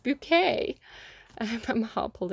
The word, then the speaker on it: Bucket: foot in the grave where she's called mrs bucket i think it's spelt bucket where she always goes no i'm mrs bouquet i put my heart